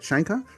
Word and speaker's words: Scheinkopf: Is that how you spell pronounce it? Shankoff.